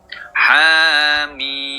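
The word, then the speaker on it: حم: Jika Anda menggunakan gerakan ha mim ha satu alif , mim tiga alif. Jangan menirukan, jangan memiringkan ke arah bunyi 'e'. Tapi apa? Saya i. Bunyi "i" saat meringis.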